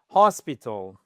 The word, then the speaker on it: hospital: Hospital, première syllabe.